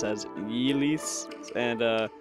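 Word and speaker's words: Ylisse: the realm so by the way it is yeast Le from what I've looked up like it's or like in it's like El but I'd like to pronounce it Asis and uh like y's people okay it's really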